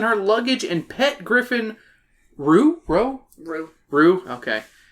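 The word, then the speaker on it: Roux: luggage and pet griffin, Rue? Okay. It's spelled R-O-U-X, that's why I was like, I think it's Rue.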